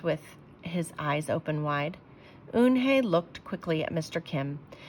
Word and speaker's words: Unhei: is he asked with his eyes open wide oon hey looked quickly at mr kim then turned to joey she nodded slowly yes it's pronounced yunhei it means and it means grace mr kim added yoon hey joey said slowly and this time perfectly it